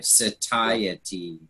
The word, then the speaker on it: satiety: so thank you society I always say say to you tea but it's an hard conjugation yeah s qh ty ta hy satiety so four syllables anyway Thank You Andrea